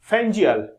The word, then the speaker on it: Fengal: लोग जरूर जवाइन कीजिएगा फैंगल जो है वो basically pronounced a फैजल is like to make